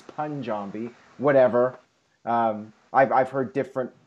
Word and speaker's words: Punjabi: All right, so now, the main event of the evening, the Punjabi prison match. I guess that's how it's properly pronounced. For the longest time, I've been saying Punjabi, but apparently it's Punjabi.